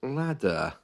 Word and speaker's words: ladder: practice with which is Ladder you can hear the r at the end of that word is silent the ladder is the